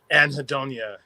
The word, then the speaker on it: Anhedonia: Anhedonia, yeah.